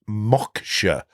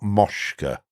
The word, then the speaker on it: Moksha: the Mosca desktop but it's actually pronounced moksha not Mosca just trying to get